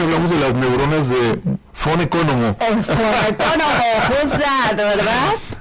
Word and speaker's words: von Economo: Entonces vamos a hablar del gran investigador y médico austriaco Konstantin von Economo, o Von Economo, que es como se pronuncia, ¿verdad?